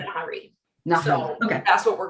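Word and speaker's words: Nahri: to say her name, Nahari. Oh, okay. Nahari, yeah. Nahari. Well, and I said the worst one I looked up, it said Neri.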